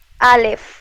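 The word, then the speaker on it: אלף: Julia eh este alef no pronunciaste la f para ver más fuerte dilo alef Ah sí alef porque Qué pasa que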